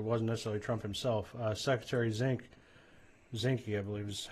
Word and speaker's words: Zinke: Secretary Zinke, I believe is how his name is pronounced.